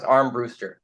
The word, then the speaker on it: Armbruster: It's pronounced Armbruster. Brewster.